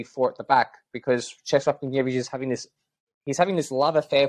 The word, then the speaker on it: Czesław Michniewicz: If you had to be the coach, right, Czesław Michniewicz, is that how you pronounce it? I'll just say it now. It's Czesław Michniewicz, if you want to say it like that.